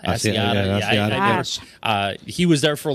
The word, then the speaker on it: Asiata: Asiata? Asiata.